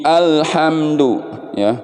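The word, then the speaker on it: الحمد لله: bacanya nah ini termasuk kesalahannya Hai bagaimana cara bacanya al-hamdu lele Alhamdulillah bersih enggak ada pantulan pantulan bukannya Ilham madu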